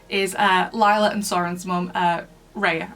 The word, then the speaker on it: Rhea: And chained to the wall is Lila and Soren's mum, Rhea, I think that's how you pronounce the name, it's R-H-E-A.